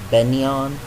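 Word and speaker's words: Begnion: By the way, the voice acting called it Benyan, but I still say there's a G. it's supposed to be like the word sign where you don't pronounce the G.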